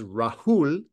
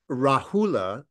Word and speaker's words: Rahula: and the son's name was Rahul in in the poly language rahula in the Sanskrit pronunciation and that's about where